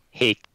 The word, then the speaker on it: Haech: Hake. Rhymes with bait.